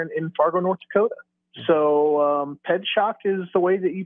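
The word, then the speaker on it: Pietrzak: Pedshock. Pedshock? Yeah, just like pedestrian and like I got shocked. It's Pedshock.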